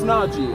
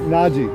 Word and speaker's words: Najee: It's like, How do I pronounce it right? it's Najee. Najee. Like Najee. Najee. Yeah, that's a good way, man.